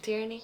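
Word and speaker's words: Tierney: Tyranny.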